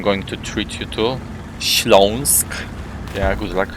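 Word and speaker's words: Śląsk: region which I'm going to treat you to schlonsk yeah good luck pronouncing that in a town called Sagan zagani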